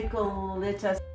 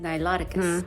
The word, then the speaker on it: Niloticus: They make another kind of Nicolita, Wrong pronunciation. It's pronounced Niloticus.